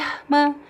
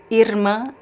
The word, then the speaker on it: irmã: of your tongue here, irmã, irmã. Or it could be irmã, like similar to the English R, irmã. All these pronunciations are correct and they vary depending on the region.